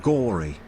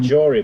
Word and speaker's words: gory: Gory. Gory. Not Laceration. even Jory, but gory.